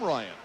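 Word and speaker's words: Ryun: Ryan Williams, who was named after the famous miler Jim Ryan, whose last name was spelled R-Y-U-N, and that's how Ryan's first name is spelled.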